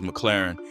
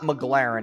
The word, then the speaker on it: McLaren: times in a row it's not McLaren it's McLaren okay so that's how we